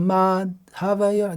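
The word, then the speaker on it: माधवयोः: But actually it has to be pronounced as one word. Shri Radhika Ma Dhavayor. They don't make a gap between ma and dha.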